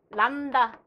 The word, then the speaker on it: 람다: 그래서 파장을 기호로 이렇게 쓰고 이렇게 람다. 혹시 예전에 람바다라는 춤이 있었는데 옛날 사람. 람다라고 읽어요.